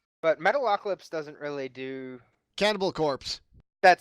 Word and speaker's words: Cannibal Corpse: Cannibal Corpse or Cannibal Core? Corpse. Corpse, as in dead body. Gotcha. Because I know a lot of people that pronounce the one as the other, and I feel like slapping them.